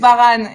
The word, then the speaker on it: Varane: I'm sorry, it's Varane, right? Varane, yes.